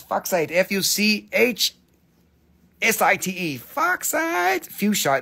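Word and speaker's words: fuchsite: mineral in quartz it's foxite f-u-c-h -s-i-t-e foxides fuchsia they say fuchsia but that's boring because it's spelled like sight so we talk about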